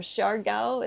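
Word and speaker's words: Siargao: Uh it's called Surao or Sharo is how the locals pronounce it.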